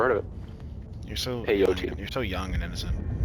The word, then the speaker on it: peyote: Peyote. Like the drug. Okay. Peyote. You know peyote? I never heard of that drug. No? Really? Never heard of it. You're so peyote.